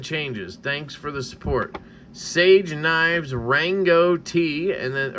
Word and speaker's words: Saje: it is okay so this is pronounced Sage nine so I have